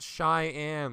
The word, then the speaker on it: Cheyenne: pronounced Cheyenne, like the native tribe or the capital of Wyoming.